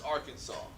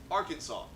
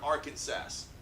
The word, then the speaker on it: Arkansas: 3 syllables with the accent on the first and last syllable, and a silent S at the end. They're having none of your Arkansas.